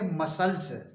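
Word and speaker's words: muscles: यू एस सी एल ई एस इसको पढ़ेंगे मसल्स मसल्स means मांसपेशियां नेक्स्ट सी ओ एन एस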